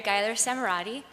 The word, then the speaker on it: Geiler-Samerotte: Our next speaker is Carrie Gler Samurret. Okay, great. Okay. Uh, thank you. That's that's the closest anyone's got to pronouncing my name correctly. Uh I'm Carrie Ger Samarati and I'm going to be talking to you